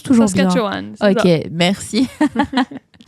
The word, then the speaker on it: Saskatchewan: Est-ce que je prononce toujours Saskatchewan, bien?